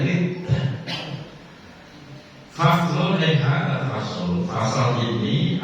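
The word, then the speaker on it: ردة: Faslun fi riddah, bacanya riddah.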